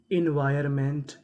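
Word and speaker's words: environment: इन VIR wire, ON का यहाँ पे हमें उच्चारण नहीं करना। MENT मेंट, तो मीनिंग बनी इन्वायरमेंट, इन्वायरमेंट का मतलब होता है माहौल या पर्यावरण।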